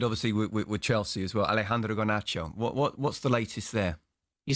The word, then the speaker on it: Alejandro Garnacho: Alejandro Garnacho. What's the latest there? You said that brilliantly. Say that again. Alejandro Garnacho.